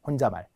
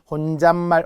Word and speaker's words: 혼잣말: 혼자말 이상하죠? 혼자말 혼잣말 어 발음에 뭐가 변화가 생겼네. 그럼 혼자 고유어 말 고유어 고유어 고유의 발음에 니은 변화가 생겼으니 사이옷이 들어가겠구나 이렇게 알아야 된다는 거죠.